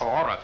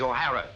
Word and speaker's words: O'Hara: do you remember saying my name is not aura it is o'hara here mr o'hara yes